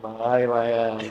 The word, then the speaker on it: Milan: This land is your land. Milan.